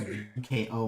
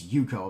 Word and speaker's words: Uko: I think his name is Yuko, and it's spelled UKO, and I was calling him Uko, and I was like, wait, is that how you pronounce your name? He's like, it's Yuko.